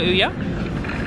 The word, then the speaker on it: Ouya: Ouya, okay.